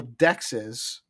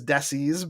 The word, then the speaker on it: dexes: Um it well I pronounce it dexes but yes it would be pron it could it could be pronounced as desis by uh people that are reading it that way with the x and all that.